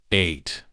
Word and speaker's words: eight: Do not use to s eight. This word has a long vowel sound.